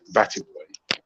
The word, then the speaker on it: batty boy: don't pause between the batty and the boy. Just like let it flow out in as close boy. to one syllable as possible. Okay, batty boy. There you go. Yeah, no pause. It's not two separate words.